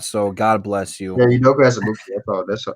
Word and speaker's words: Udoka Azubuike: I was not going to be close on how to pronounce that, so God bless you. Yeah, Udoka Azubuike.